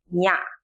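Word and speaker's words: ည: Number 10 is nya, and we pronounce it nya. It sounds like NY in Kenya or in the beginning of Niagara.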